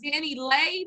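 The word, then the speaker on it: DaniLeigh: jaw surgery all right the baby got um danny lay that's how you say her name um she's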